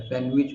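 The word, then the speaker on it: sandwich: लेज pledge rich सैंडविच इसको सैंडविच बोलते हैं हम लोग लेकिन सैंड में डी साइलेंट है सैंडविच होता है एडजेसेंट एडजेसेंट हम लोग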